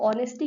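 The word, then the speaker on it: honesty: एक और एग्जांपल है ऑनेस्टी, अब ऑनेस्टी क्या है, यहाँ पे एच साइलेंट होता है, यू नो, ठीक है, तो इसको ऐसे प्रोनाउंस करते हैं हम, ऑनेस्टी, ठीक है।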